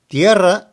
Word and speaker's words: tierra: Tierra also emphasizes the E, but you need to trill the R. So we have tierra.